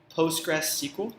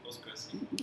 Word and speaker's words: PostgreSQL: How do you pronounce it? PostgreSQL. PostgreSQL.